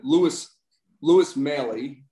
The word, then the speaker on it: Louis Maley: And Louis Maley, thank you, is the way you pronounce that name, happens to be my grandfather.